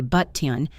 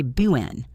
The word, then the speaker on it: button: The most famous example is the word button. We rarely say button, we say buen, button. Listen to the stop, buen.